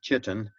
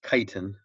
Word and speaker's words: chitin: they have cell walls made of chitin that's pronounced ke not cheap like you would think almost everyone when they see it says chitin but it's chitin chitin is a complex carbohydrate similar to cellulose